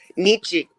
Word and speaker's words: Nietzsche: Nietzsche.